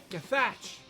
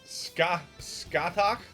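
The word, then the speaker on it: Scáthach: Skathach? Skathach! Wow, not how I pictured it. Skaha! It just sounds like he's saying Skaha. Yeah. Skaha. Maybe it's the way it's pronounced. Skaha.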